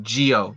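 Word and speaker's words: Zi-O: It's pronounced Geo.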